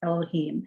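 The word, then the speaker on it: יהוה: Aleph, Dalet, Nun, Yud, and then Yud, He, Vav, He. which we pronounce Elohim, namely Adonai Elohim, you have begun.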